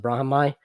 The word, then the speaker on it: Brahimaj: his name is spelled brahm brahimaj but it's pronounced brahmai and i'm going to respect his name by